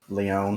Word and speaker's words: Leon: That is how it's said, right, Leon? Yes. Yes, it is.